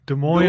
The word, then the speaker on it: Des Moines: Is it Des Moines? How do you say that? Des Moines, Iowa. You were close. Des Moines, Iowa, and it says by choice, with his wife, Kerry, and 3 children.